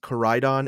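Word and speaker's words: Koraidon: Koryadon.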